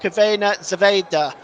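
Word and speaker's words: Crvena zvezda: sorry Red Star Belgrade one Benfica 2 that's pronounced cavena Zeda by the way in case you're seeing that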